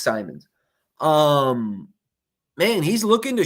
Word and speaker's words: Simons: Anthony Simons, Simmons, Simons, I forget how you say it. Uh he's an interesting spot. I went back and I watched some film and uh it's Simons.